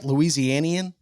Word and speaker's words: Louisianian: Louisianian?